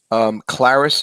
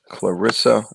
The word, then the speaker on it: Clarissa: He's got a whole crew of boxers now, including Clarice Shields. Did I pronounce her name properly? It's Salita Promotions, and the fighter's name is Clarissa Shields.